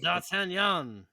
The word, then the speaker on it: D'Artagnan: All right, we'll say it with a French accent I mean, because it's a French name.